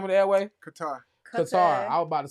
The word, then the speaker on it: Qatar: Qatar. I was about to say Qatar. Qatar. Yeah, you got a good point. I've never realized that it's not spelled the way we pronounce it.